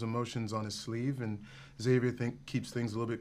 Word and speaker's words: Xavier: What was it about Xavier that attracted you? I pronounce it Xavier.